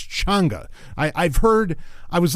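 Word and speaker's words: Chang'e: sorry changer ch cha that's that's how you pronounce it it's changa I I've heard I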